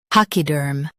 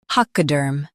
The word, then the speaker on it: pachyderm: Durm, PACHYDERM. Stress pack and soften derm. PACHYDERM, PACHYDERM.